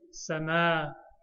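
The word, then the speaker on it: سماوات: In the Quran, that first alif is not written, so you may see it like that. But it will be samawati. The pronunciation is samawati, and the standard way of writing it is like this.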